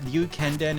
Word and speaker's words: Ryukenden: The issue wasn't that Ryukenden is Japanese, it's that it has the RYU glide, which is difficult to pronounce.